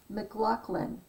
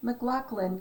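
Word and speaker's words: McLachlan: anyway mclaughlin and when you say it like that it's m a c which is scottish not m c l capital l a c h l a n and um you said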